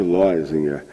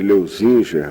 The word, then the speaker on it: Leuzinger: uma distorção assim eh continuo falando Jorge Linger mas o mais correto é provavelmente leuzinger ou leuzinger assim porque ele era de origem Suíça e eh muitos dos